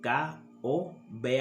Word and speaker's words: Kobe: nba hoy fallecido y cuyo nombre se escribía o se escribe con k o be alta o labial o b y se pronuncia kobe no yo estoy hablando